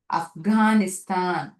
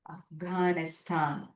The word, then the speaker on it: Afghanistan: Afghan, Afghanistan. Correct. Afghanistan. G sound. Hard G sound is appearing over here.